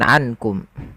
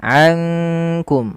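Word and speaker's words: أنكم: Kemudian karena dia nun sukun bertemu dengan kaf, yang mana kaf ini termasuk daripada salah satu huruf ikhfa, maka cara membacanya bukan lagi dibaca dengan ankum. Kalau idgham itu memasukkan, sedangkan ikhfa di antara keduanya, di antara izhar ataupun idgham. Maka ankum langsung kepada makhraj disamarkan kepada makhraj kaf.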